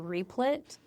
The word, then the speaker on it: Replit: But I took that code and then I pasted it into Replit.